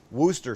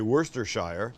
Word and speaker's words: Worcestershire: there the silent the although it's got Shire in there it's silent ish so in the UK we pronounce it Wooster sauce Wooster sauce not what I think I say Worcestershire Wooster sauce and this